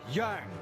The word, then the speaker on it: Jang: Jang is pronounced like Yang just because someone decided spelling should be as tricky as escaping the Sarlac pit.